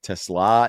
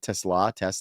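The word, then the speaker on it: TeSlaa: Isaac Tesla is still getting, I think that's how you say it. Tesla. That's how the guy said it on the broadcast this week when Yeah.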